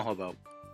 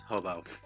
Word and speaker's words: Hoboeaux: of it or I I like they call hob because of the uh spelling in the end but it's really I think it's pronounced as hobo um he kind of